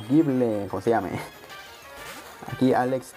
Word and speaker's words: Gible: Un Gible, o Gible, como se llame. Aquí Alex, pronunciaciones locas.